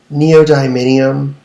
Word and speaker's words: neodymium: Like, neodymium magnets, neodymium, neodymium.